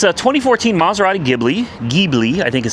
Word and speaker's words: Ghibli: It's a 2014 Maserati Ghibli, I think is how they pronounce it.